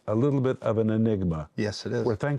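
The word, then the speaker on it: αἴνιγμα: The word darkly in Greek is pronounced enigma.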